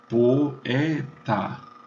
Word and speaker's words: poeta: Leem-se as vogais separadamente. Poeta, 3 sílabas.